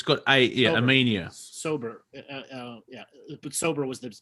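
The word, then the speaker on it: Ænima: Anemia, yeah.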